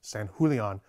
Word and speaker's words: Sanjulian: His name is probably more properly pronounced Sanjulian, but I'm going to go with Sanjulian because that's what all American collectors call him.